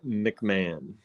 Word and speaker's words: McMahon: It is pronounced McMahon.